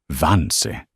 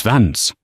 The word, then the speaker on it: Vance: Vance, she began, mispronouncing his name as Vansi. I need to ask you a few questions. It's Vance, he corrected her, his voice even and low.